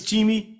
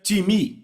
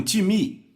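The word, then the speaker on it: τιμή: grega time então soletra se pm em português pronunciamos talvez time não se pronuncia dessa forma em grego se pronuncia time repita um time ok então eu falei com várias não eu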